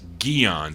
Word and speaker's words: Guions: Her name is Judith Grace Guions. That's how you pronounce that.